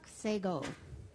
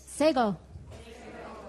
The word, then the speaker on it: Sekoh: Sego. Now you know how to say it. Sego.